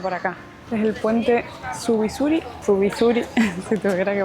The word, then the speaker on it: Zubizuri: Es el puente Zubizuri, si tuviera que pronunciarlo como corresponde.